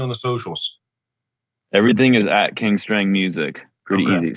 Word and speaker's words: King Strang: Everything is @kingstrange music. Pretty easy. Strange without the e, rhymes with thing.